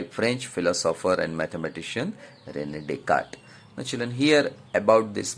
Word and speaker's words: Descartes: His name is Rene Descartes. S is silent, children. So this Descartes gave an idea about this position.